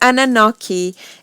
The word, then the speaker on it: Anunnaki: an alien race and it's that and Annunaki Annunaki okay there there we go the Anunnaki alien race have controlled the defeat the teachings